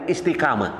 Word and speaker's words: istikamah: dalam bahasa Arab apa Latinnya istikamah dibacanya apa istikamah istikamah Nah itu ya memang kita mengikuti ejaan yang berlaku namanya EYD Ah gitu ya ya ataupun mengikuti Apa aturan dalam penulisan supaya nanti ketika anak-anak melihat tulisan ini tetap tulisannya Istiqamah bacaannya istikamah Nah bisa seperti apa